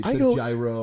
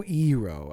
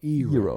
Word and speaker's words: gyro: Some people pronounce they say gyro. I go eero. I kind of like almost like an euro. Ero, right?